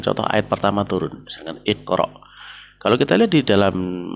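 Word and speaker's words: اقرأ: Nah, terus mengapa kita membacanya dengan kasroh? Iqra. Ya karena memang kemudian itu ya kita membacanya karena sesuai dengan kaidah ya. Itu dia fi'il amr ya iqra yang diambil dari fi'il mudhari' yaqra'u. Ya yaqra'u berarti huruf sebelum terakhirnya itu berharokat fathah.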